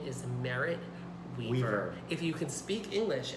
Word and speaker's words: Merritt Wever: Well, and someone, I don't remember who, but whoever gave the award to Merritt Wever mispronounced her name as well. Her name is Merritt Wever.